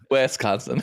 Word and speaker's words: Wisconsin: well it's close it's there's no e in the beginning of it but that's okay Wisconsin and that that's gonna